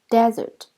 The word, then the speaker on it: desert: It should not be confused with desert. Here, the stress is on the first syllable.